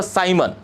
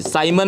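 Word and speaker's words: siemens: से जाना जाता है नाम है उसका साइमन या फिर सीमन जो भी आप बोल साइमन वैसे प्रोनाउंस किया जाता है साइमन मीटर इवर्स यह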